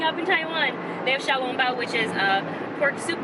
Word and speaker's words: xiaolongbao: China marketplace, they have xiaolongbao. I can actually pronounce these. Yay, for growing up in Taiwan. They have xiaolongbao, which is a pork soup dumpling with black vinegar and ginger.